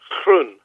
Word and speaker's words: Groen: 8.1 FM taking care of business with grown now grown is a Dutch name right I mean how do you pronounce it in Dutch in Dutch is pronounced croon which is actually the Dutch word for green